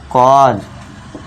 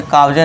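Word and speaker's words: cause: सी ए यू एस ई इसे क्या पढ़ना है दोस्तों? कॉज इसे काउजे नहीं पढ़ना है।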